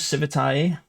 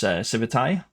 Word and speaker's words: Civitai: It's Civitai with an I, and it comes from the Latin civitas. It's kind of a really bad pun, play on words. Civitas means community in Latin, and that's how it's intended to be pronounced.